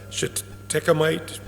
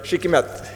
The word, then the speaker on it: shikimate: but does AMPA block the shikimite pathway? Did I say that right? Shikimate, yeah. The shikimate, yeah. Does glyphosate block that pathway? AMPA. Sorry. AMPA. Sorry. No. Okay. Glyphosate blocks the shikimate pathway, that's for sure.